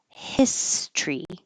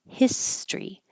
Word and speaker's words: history: in the word history the looks like the same s o r y but it doesn't sound like that we get rid of this o and we make it two syllables history history so hisory will be